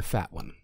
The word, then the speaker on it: Fatone: In the boy band, you're the fat one. He mentioned... Perfect. Pronounced Fatone.